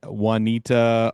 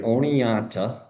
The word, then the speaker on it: Oneonta: I don't really know how to say it. Juanita, oh, very one. that's a good first attempt. I like that. I've seen that name butchered worse, to be honest with you. That's my So goal. That's my goal is to butcher things. yeah, I grew up in upstate New York, right? Oneonta, New York.